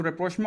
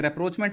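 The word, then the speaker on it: rapprochement: 2023 के अंदर जो रेप्रोचमा हुआ था, या जिसे रेप्रोचमेंट भी हम कह सकते हैं, रेप्रोचमेंट या रेप्रोचमा ये दोनों प्रोनाउंसिएशंस हैं, ईरान और सऊदी अरब के दरमियान, उससे भी ब्रोकर चाइना ने किया था।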